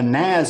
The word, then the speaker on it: NAS: all work together, a NAS is a fantastic product where everybody can connect to it. It's pronounced Nas.